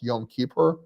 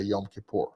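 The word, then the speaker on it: Yom Kippur: say uh I think in Hebrew it's probably better pronounced yum keeper uh but when I was growing up we you know the Russians typically say yam kipur so you know without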